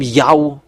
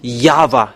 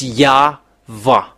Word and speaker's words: YAHVAH: This name Yahweh. Don't enter in that for the next time. You have seen the teaching, you have seen the source, but the real name, the true name is YAHVAH. Let me write it and keep it. To read this Yod, Hey, Vav, Hey, for Jewish, even the ancient or the newer, It's YAHVAH.